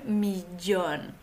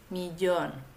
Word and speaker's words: millón: es el millón un millón aquí hay un poco de dificultad por la pronunciación de la doble l la doble l en español se pronuncia como una Dj en francés y una y hay diferentes variaciones en